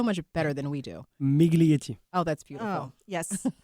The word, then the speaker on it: Miglietti: Migly.